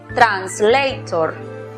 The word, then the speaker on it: translator: Por lo tanto, aplicamos el sonido cerrado de la vocal O, tor. La pronunciación para la palabra es translator.